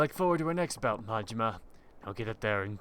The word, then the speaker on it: Majima: Mahima? Well, the H sound on the J is more of like a Spanish-German thing. I don't think they pronounce any of the J sounds like that in Japanese.